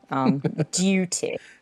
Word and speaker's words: duty: Duty. Duty. You say it like the Queen, duty, versus the American way of running, softening the consonants, duty, Yeah, and turning the T into a D.